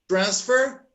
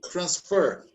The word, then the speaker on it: transfer: The noun is pronounced always with the first syllable stressed, like record. Okay? And the verb receives the stress in the second syllable. Like the noun here and the verb is record. Okay? Like here we say transfer and the verb is transfer.